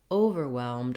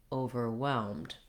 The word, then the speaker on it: overwhelmed: But the primary stress in the word is not on that first syllable. So rather than overwhelmed, you want overwhelmed. Sort of short, long in that scenario.